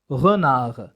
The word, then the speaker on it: renard: لا أنطق الحرف الأخير من الكلمة. أعيد renard.